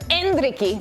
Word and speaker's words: Endrick: presented by Taco Bell well 17-year-old Brazilian Striker andriy did I say it right you got it